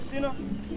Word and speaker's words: Sina: The sister's name is Sina. Can everybody say Sina? Sina. That's her Samoan name. It's spelled S-I-N-A.